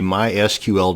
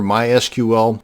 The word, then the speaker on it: MySQL: going to show you how to create a mysql database and yes it's pronounced mysql not mysql so the next time